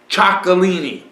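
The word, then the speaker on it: Txakolina: cool to say it I also like to say chalini and and and I I'm repeating that because it's spelled TX a k o l i n a chalini there you go you'll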